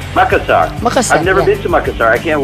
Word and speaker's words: Makassar: And Makassar, how do you pronounce it? Makassar? Makassar.